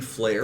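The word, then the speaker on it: Fliehr: Flair the person yeah the last name is actually flare it's spelled differently it's f l e i h r that's wow I did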